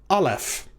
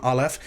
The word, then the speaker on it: Aleph: grammar tells you, that the Aleph is silent, but that's not entirely accurate. This character and one other in the Hebrew Alef-Bet are not truly silent. They represent what's called a glottal stop.